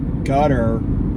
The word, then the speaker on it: Qatar: But if you haven't been paying attention, um, the government of Gutter Qatar like but it's I think it's properly pronounced gutter.